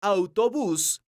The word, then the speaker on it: autobús: letra o ejemplo tres la palabra autobús es una palabra aguda porque su sílaba tónica es la sílaba bus esta palabra termina con